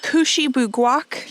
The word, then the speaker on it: Kouchibouguac: We are checking off another Canadian national park today, and this one is called Kouchibouguac.